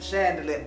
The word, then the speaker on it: Khandelier: Oh, Krystal Khandelier, spelled with a K-H. She pronounces it Chandelier.